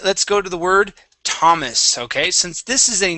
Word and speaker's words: Thomas: Let's go to the word Thomas. Okay. Since this is a name, all right, this is a typical name. That th would be pronounced only like a T. So the H is silent.